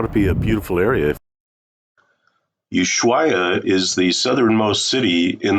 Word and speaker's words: Ushuaia: So you pronounce that with an ooh on the front, like ooh baby. And then the schwai starts off like the bicycle Schwinn, but it ends with a Y, so it's Ushuai.